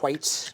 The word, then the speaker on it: white: The lovely thing about if you start with a white chandelier, white, Debbie. White. He pronounces the H in white.